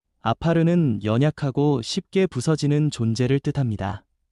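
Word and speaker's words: עָפָר: 먼저 여기서 흙이라는 말은 히브리어 발음으로 아파르입니다. 아파르는 연약하고 쉽게 부서지는 존재를 뜻합니다.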